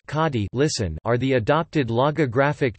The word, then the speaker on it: Kanji: Kanji, Hanzi pronounced kadi, listen, are the adopted logographic Chinese characters that are used in the Japanese writing system.